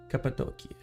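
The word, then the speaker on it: Cappadocia: See, for some reason, the way they write it in English specifically, at least on Google Maps, it's spelled as C A P A D O C I A. And so it sounds like an for some reason an Italian word to me.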